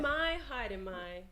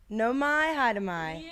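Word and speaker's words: Nau mai, haere mai: Your pronunciation's amazing. Okay, great. I'm going to do it. No mai, haere mai. No mai, haere mai.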